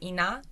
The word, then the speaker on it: Inna: Her name is Ina. It's like Ina. double N. How do you spell that?